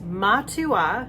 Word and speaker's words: Matua: This is the Matua Sauvignon Blanc, or rather the Matua Sauvignon Blanc. Someone told me how to pronounce that correctly, and it was a person from New Zealand. So it is Matua interchanged with just any type of Prosecco.